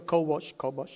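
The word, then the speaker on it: כבש: La palabra en hebreo para gobernar es kabash, se pronuncia kobosh, y significa, léalo ahí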